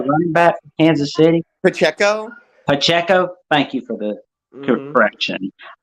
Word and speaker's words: Pacheco: The running back from Kansas City, Pacheco.